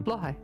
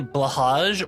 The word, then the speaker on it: Blåhaj: Wait, how do you say the IKEA shark's name? Bly. Thank God. Thank you. I'm correct. Thank you. All of you out there who say blahaj or blah, yeah, blahaj, it's blohai.